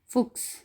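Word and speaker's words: Fuchs: आगे है से हा एस, इक्स की आवाज़ देता है। जैसा कि लफ्ज़ है फुक्स, फुक्स।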